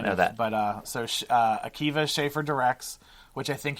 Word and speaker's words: Akiva: Akiva and Jorma, yeah.